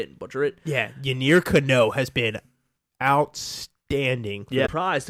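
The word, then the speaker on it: Yennier Cano: I can't pronounce his first name, but Cano. Yanir. I that's what I thought it was, but I didn't want to say it and butcher it. Yeah, Yanir Cano has been outstanding.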